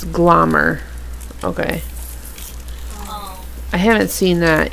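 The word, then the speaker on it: Glommer: It's glomer.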